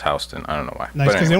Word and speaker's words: Houston: Soho is south of Houston, spelled Houston, but pronounced Houston.